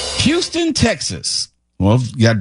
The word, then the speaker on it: Houston: Houston? Yeah. No. They call it Houston in New York. It's Houston in Texas.